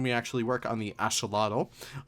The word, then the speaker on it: axolotl: And then we actually work on the axolotl. Many people actually say axolotl, but axolotl is kind of like the native Nautical language, I think it is, way of pronouncing it.